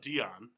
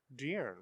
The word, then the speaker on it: De'Aaron: No, it's not Dion. De'Aaron.